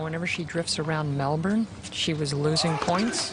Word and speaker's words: Melbourne: Melbourne, but they don't pronounce the R down here. It's Melbourne.